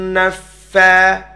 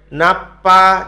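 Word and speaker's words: النفاثات: selama dua harakat syarrin naffa Fa Ya jangan nanti bacanya Napa jadi huruf PA bukan huruf pa tapi huruf Fa gimana dia letak nya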